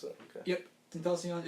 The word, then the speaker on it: XXXTentacion: Yeah, him, the recent past XXXTentacion. That's how you pronounce it. Okay. Yep, Tentacion.